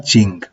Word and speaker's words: Qing: O lo voy a pronunciar a partir de ahora Qing porque me resulta más fácil, pero se ve que en chino se pronuncia de la primera forma que he dicho.